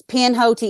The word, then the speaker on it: Pinhoti: Can you spell it for me? Yeah, it's Pinhote. It's Pinhoti.